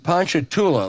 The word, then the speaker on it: Ponchatoula: buy you land this is from Kai and Ponchatoula Louisiana pronounce that correctly James you pronounced it exactly